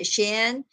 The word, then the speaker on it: Shein: You guys know how to pronounce it? Shein, S Shein.